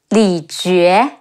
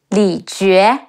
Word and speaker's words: Li Jue: Hua Xiong, He Wu A, Hua, Xi Yi Ong, Xiong, Hua Xiong, Li Jue, Le Yi Li, Ji Yu E, Jue, Li Jue, Guo Si, Ge Wu